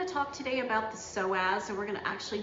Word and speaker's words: psoas: to maintain a healthy psoas and it's spelled p-s-o-a-s so the p is silent so you'll need uh